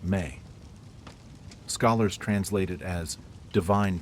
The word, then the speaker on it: me: They operated the world through something called ME, pronounced may.